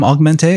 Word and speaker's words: Augmentée: cartoonist from Los Angeles and uh I'm I'm augmente is that the pronunciation yeah okay I've been saying it wrong